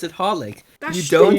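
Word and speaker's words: xxxHOLiC: not how that works you know what the worst one is triple x x x x horlick oh it's just called horlick why i think it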